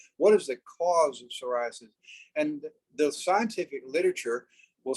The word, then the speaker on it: psoriasis: ones right away psoriasis psoriasis starts with a p but it's uh psoriasis what is psoriasis well